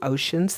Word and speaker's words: ocean: Go to the next line and write your capital O for ocean, and the O-C, the C-E says sh in this word.